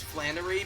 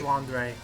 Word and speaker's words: Flandre: only character I know in this series is Flanery because her theme is amazing flandre is Flor is she good or bad there's